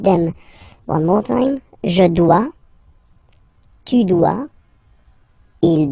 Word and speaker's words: dois: Okay, remember final S is not pronounced. Je dois. O-E, when you combine the two, you get the sound wa-wa-wa.